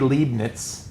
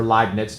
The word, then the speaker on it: Leibniz: there's this guy Gottfried Leibniz or live nits depending on how you want to pronounce it so what happens